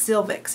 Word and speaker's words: silvics: Its silvix is what it's called. How do you spell that?